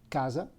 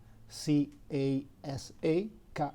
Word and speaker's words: casa: E, the five vowels, if the letter C is followed by A, U, O, it's pronounced like a soft K. So house, for example, is casa, C-A-S-A, casa.